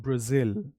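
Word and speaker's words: Brazil: ब्राजील वो वाला गाना नहीं ब्राजील नहीं बोलेंगे। ब्राजील बोलेंगे। क्या बोलेंगे? र जिल दोबारा से हम बोलेंगे प्र लाइक माय ब्रदर प्र जिल ये इसकी प्रोनंसिएशन है मेरे पीछे रिपीट कीजिए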